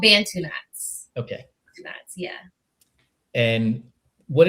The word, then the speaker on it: Bantu knots: it a certain way, and I'm sure I'm pronouncing it incorrectly. They're called Bantu knots.